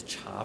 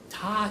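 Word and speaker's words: 茶: pronunciation is older a cha pronunciation is newer so the the Korean pronunciation of this character is associated with two readings cha and top and tah is the older pronunciation it's the sino-korean layer it's the one that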